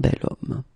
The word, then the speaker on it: bel homme: So remember, I say the sound of a vowel because, of course, if you look carefully, you've got H here, okay? And it's not a vowel at all. But then in French, we don't pronounce it.